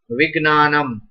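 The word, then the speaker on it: विज्ञानम्: Now, as per their pronunciation, it is Gna. Right. So, this one should be Gna. Now, some people are pronouncing as Gya. then I can't accept this. Right? As per this, jha and ya, jya, but that's absolutely wrong.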